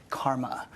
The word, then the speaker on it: CCRMA: the way that surance the CCRMA in this pronounced Karma I direct the Stanford laptop